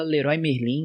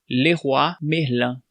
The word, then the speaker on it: Leroy Merlin: Aqui a gente fala Leroy Merlin, né? Mas sabe qual que é a pronúncia correta? Leroy Merlin.